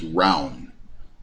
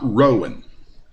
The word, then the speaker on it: Rowan: So yes, this is correct pronunciation, is Rowan, not Rowan. This is Kentucky. The county is called Rowan.